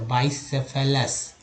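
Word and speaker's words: bicephalous: Next है बाइसेफ, बाई, यहाँ पर आई का उच्चारण आई के रूप में हुआ था, बाइसेफेलस, बाइसेफेलस।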